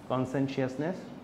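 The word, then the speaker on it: conscientiousness: So when you present make sure your pronouncing is good, কনসেন্সিয়াসনেস, কনসেন্সিয়াসনেস, ঠিক আছে।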